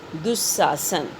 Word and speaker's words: दुःशासन: जैसे दुह प्लस शासन, दुःशासन, तो दु के बगल में आप देखिए दो विसर्ग लगा हुआ है, तो उच्चारण हम कैसे करेंगे? दुह। विसर्ग का उच्चारण करते समय ह ध्वनि जो है वो सुनाई देती है, तो दुह प्लस शासन, दुःशासन, वो विसर्ग हटकर तालव्य श के रूप में, तालव्य श जो है वहाँ पर आएगा।